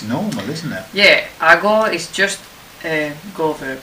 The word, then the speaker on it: hago: So it isn't hago, it's hago. So the C becomes a G.